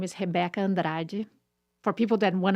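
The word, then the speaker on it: Rebeca: her name name is hebecca and for people that want to know how to say her name in Portuguese it's hebecca Andra uh she got silver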